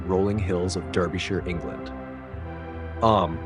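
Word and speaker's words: Eyam: Am, pronounced simply like M, is quiet and self-sufficient.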